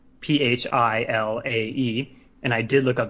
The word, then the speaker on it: Philae: So it's called Philae, Philae, and I did look up the pronunciation.